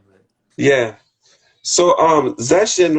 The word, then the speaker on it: Zeshen: my full name in Chinese is three syllables. It's Zeshen. So that's how you say it. And Oh, my okay. last name is. So um Zeshen is just me putting those two together.